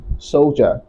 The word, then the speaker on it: soldier: not so dear right the word is pronounced as soldier soldier soldier soldier and another word